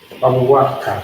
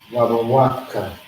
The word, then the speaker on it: Bawawaka: Bawawaka. That's how you pronounce it. Wa, ba, wa, ka. Bawawaka.